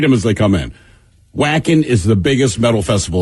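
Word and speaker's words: Wacken: as they come in whacking is the biggest metal festival in the world whacking is a huge metal fest now that follows the the w is pronounced as a v not any which is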